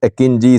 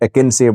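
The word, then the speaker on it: Akıncı: modern Turkish combat drones akinji pronunciation is akinji some call it aeni but it's akinji akinji is the latest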